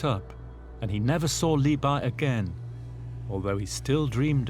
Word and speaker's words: Li Bai: Li Bo or Li Bai, Li Bo was the old pronunciation, had a character that was very charismatic.